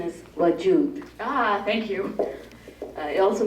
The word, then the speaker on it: Wajood: Pronunciation is WAJOOD.